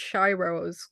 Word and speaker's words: Shy Rose: Hi, it's actually pronounced Shy Rose, kind of like a Shy timid Rose.